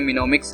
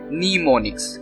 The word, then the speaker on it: mnemonics: जैसे आपके सामने मिनोमिक्स लिखा हुआ है, इट इज प्रोनाउंस एज नीमोनिक्स, ठीक है। इसकी प्रोनाउंस नीमोनिक्स है लेकिन इसको शॉर्ट नेम में चेंज किया गया मिनोमिक्स, ठीक है।